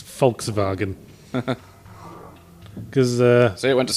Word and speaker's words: Volkswagen: the way they pronounce Volkswagen. Because See, it went to sleep. Germans pronounce their W's as V's, they're notorious for it. But did you know they also pronounce their V's as F's?